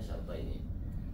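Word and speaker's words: شَرْطَيْنِ: Dari mahfud, mahfudatil asma atau dari majrur bi syarta ini, bacanya syarta ini.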